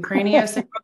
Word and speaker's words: craniosacral: In fact, tell me how you pronounce that. Is that right? You did it perfectly. Craniosacral therapy, exactly.